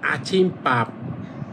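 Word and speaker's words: 아침밥: ভাত তাহলে এই যে বটাকে উচ্চারণ করবেন দুইবার সাং উচ্চারণ করবেন তাহলে হবে পাপ তাহলে হবে আছিম পাপ আছিম পাপ পাপ মানে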